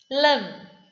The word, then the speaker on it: limb: Limb, B is silent.